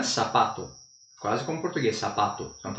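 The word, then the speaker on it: zapato: Então, se eu escrevo sapato em espanhol, se escreve com Z. Aqui na América Latina é sapato.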